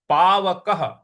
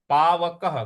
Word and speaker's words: पावकः: तो दहति पावकः, पावकः, क के बाद जो विसर्ग है उसका उच्चारण हमें ह ले आना है, क्योंकि उसके आगे कोई भी अक्षर नहीं है।